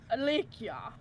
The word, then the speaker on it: Alikia: It's French. It's super fancy. Alicia. I. The K is silent and there's an invisible SH.